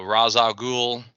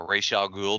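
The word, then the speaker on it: Ra's al Ghul: Robin uh it's a a razal ghoul a Ral ghoul depending on how you like to pronounce pronounce it um got Ty on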